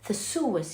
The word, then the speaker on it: Theseus: Theseus, yes, that's how you pronounce this name, is a hero who was amongst the ones presented to Minotaur.